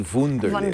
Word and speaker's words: Wunderlist: And that's what Wunderlist, or maybe it should be Wunderlist. Wunderlist. It's spelled W-U-N-D-E-R.